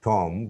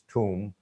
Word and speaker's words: tomb: next tip and trick, B is silent if a word ends in MB. Here, tomb, om, comb, limb, nam, thumb, and dam. But sometimes some Bengali speaking people pronounce or try to pronounce tomb. It's not tomb, it's tomb, or comb, it's comb, comb.